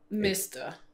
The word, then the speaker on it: mester: Yeah, mister. Mister, yes. Yeah, so it's mister. Just subbing the A with an E. Yeah, with a more like an E sound.